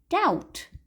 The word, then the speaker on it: doubt: The letter B in the word doubt is silent.